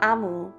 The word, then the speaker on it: Omu: note to the reader amu pronounced is the igbo term for queen thank you amu